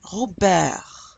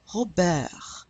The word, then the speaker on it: Robert: Robert, Robert. And notice that we're not pronouncing the S in Paris or the T in Robert, because careful, generally, only